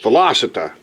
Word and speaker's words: velocita: I've been saying it wrong, but velocita. That's not the proper, it's velocita, like velocity. Velocity Motorsports or whatever.